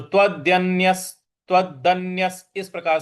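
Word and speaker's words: तदन्यस्य: तदन्यस तदन्यस देखिए त के बाद जो आधा न है उस पर हमको आघात देना है।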